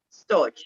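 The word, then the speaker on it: storge: pronounced the s-t-o-r-g-e dodge like george storch okay storage yeah like george yeah right so um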